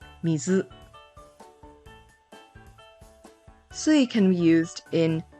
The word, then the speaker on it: 水: Moving on to Wednesday, there are two Japanese pronunciations, which is sui and mizu.